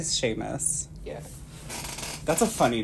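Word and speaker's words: Seamus: me see the name Sheamus I'm pretty sure it's how do you spell It's s e a m u s I think it's Sheamus we'll say Sheamus yeah that's a funny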